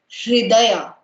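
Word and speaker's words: हृदय: And how do you pronounce it? It's her. And somebody really pronounced it correctly. It's called hridaya.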